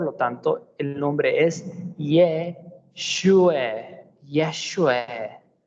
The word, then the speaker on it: Yeshua: Por lo tanto, el nombre es Yeshua, Yeshua o Yahshua.